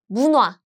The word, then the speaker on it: 문화: So the pronunciation is 문화. This niun, the nasal sounds meets this. What happens is it becomes 문화.